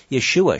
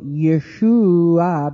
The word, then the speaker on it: Yeshua: The anglicized version of Yeshua, shouldn't it be Joshua?